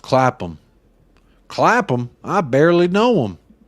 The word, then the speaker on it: Clapham: It's not Clapham, Jacob. It's pronounced Clapham.